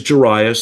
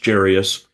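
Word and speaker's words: Jairus: And his name is Jarius, sometimes pronounced Jarius. I go with Jarius.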